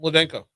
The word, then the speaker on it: Mladenka: Last name MLADENKA. Brought you a magnet. Hey. Normally I wait until break. Is that it? Ladenko. Yeah, so the L is silent.